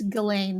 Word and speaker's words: Ghislaine: H is silent and the S is silent. So it's Ghislaine Maxwell.